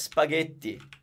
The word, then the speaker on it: spaghetti: a template word so if you know that spaghetti is pronounced gay Italian is beautifully easy in the sense that it's consistent so if that sounds gay once as in ghetto of spaghetti it's always gonna sound good it's the H